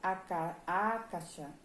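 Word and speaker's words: Akasha: a nota é essa a caixa pronuncia-se a caixa a caixa com acento no ar no segundo a caixa a caixa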